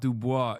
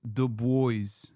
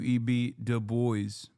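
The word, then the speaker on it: Du Bois: No, it's not Dubois. It's the boys. We do D boys.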